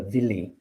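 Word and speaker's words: Willi: the song of the villi w-i-l-l-i pronounced with a v none of these women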